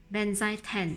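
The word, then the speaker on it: Benzaiten: but let me quickly show you how I pronounce it correctly. Benzai 10.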